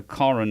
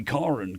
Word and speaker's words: Karen: Because in South Africa, Karen is pronounced Karen, not Karen.